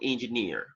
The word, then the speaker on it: engineer: Engineer, actually you have the stress on the last syllable, at the end.